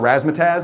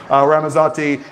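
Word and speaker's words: Ramazzotti: Uh I always call it raasmataz. And that's not the correct way to say it. Ramazati.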